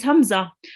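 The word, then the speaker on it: همزة: is here this is hamza i know it looks a bit like an iron a small iron but this is hamza it is pronounced identically to an alif so exactly like like an ali okay whereas if you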